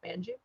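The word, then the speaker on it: Manjoo: i pronounced that correct it's m-a-n like man and then j-o-o jew manju i'mma go with manchu he tweeted and i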